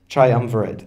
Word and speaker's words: Triumvirate: Triumvirate, thank you.